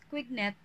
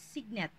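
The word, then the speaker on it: Cuignet: use the term skyoscopy and then we have signet or some of the some of us pronounce it as quignet so it's signet he made known the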